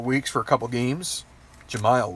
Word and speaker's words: Jemile: that result they lose Jameel weeks for a couple games Jemile weeks I think is how you say his name but that being